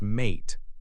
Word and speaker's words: mate: If we add a silent e to the end, the word becomes mate. Now the uh has a long a sound like the name of the letter uh. The e at the end is silent.